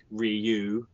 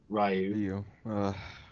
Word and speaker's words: Ryu: you put out um it's pronounced Ryu instead of rayu Ru doen haduken and